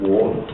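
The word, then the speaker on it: 倭: They call it the land of war. This character here, which is then pronounced wa in Japanese.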